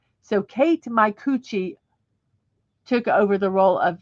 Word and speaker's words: Micucci: Her actual last name is pronounced Micucci. So Kate Micucci took over the role of Velma after Mindy Cohn.